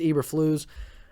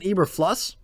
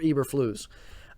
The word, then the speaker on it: Eberflus: what's pronounced his name i think it's eberflus um i know for certain it's not ibra floss i've heard that a few times i know it's not that i know it's eberflu or eberflus um but regardless of